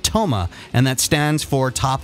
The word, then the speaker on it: TOMA: term, and it's called TOMA, and that stands for top of mind awareness. And I always thought it was interesting that happened to rhyme with coma.